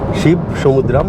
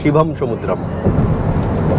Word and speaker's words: শিব সমুদ্রম: শিব সমুদ্র বাংলা করলে হবে, কিন্তু এরা উচ্চারণ করে শিব সমুদ্রম বা শিবম সমুদ্রম।